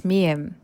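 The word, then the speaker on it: 미음: Third basic consonant is mium. It sound m is bilabial nasal sound. So it is pronounced by closing both lips together and letting the air pass through the nose.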